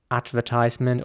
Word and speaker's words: advertisement: For example, The next word is spelled A-D-V-E-R-T-I-S-E-M-E-N-T, so it's a little longer. But once again, you might know where this is going at this stage. In British English, it would be advertisement or advertisement, maybe even.